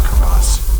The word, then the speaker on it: crevasse: This is one of my biggest fears, falling into a crevasse. A crevice. It's pronounced crevasse.